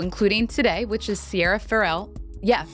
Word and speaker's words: Ferrell: today which is Sierra frell yeah Fel no actually someone in the comments said it rhymes with barel So frell yeah thank you for